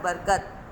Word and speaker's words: برکت: بیرے بر کاپتے کت۔ صحیح درست تلفظ کیا ہے؟ بیرے بر کاپتے کت، برکت۔ پھر ہے صحن، یہاں